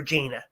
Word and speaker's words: Jayna: channel um called gina swan and her name is spelled j-a-y-n-a for gina okay um so she's probably resting because she